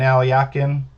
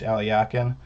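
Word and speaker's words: Alekhine: on uh players like uh um blackburn and alyakin alexander aliakin played it uh spelled more like alakine but it's pronounced alyakin um but uh let's let's take a look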